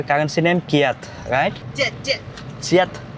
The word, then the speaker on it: kyat: jet চিয়াত, ও চিয়াত, নট কিয়াত, KYAT, বাট তারা pronounce করা হচ্ছে চিয়াত। অর্থাৎ এখানে কে সি উচ্চারণ করে থাকে বা সি বলে সম্বোধন করে থাকে।